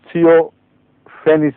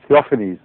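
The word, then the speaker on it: Theophanes: سب سے پہلے حضرت اقدس محمد رسول اللہ پر ایپیلیپسی کا الزام لگانے والا شخص ایک بیزنٹائن ہسٹورین تھیوفینس تھا. تھیوفینیز اس کا تلفظ ہوگا.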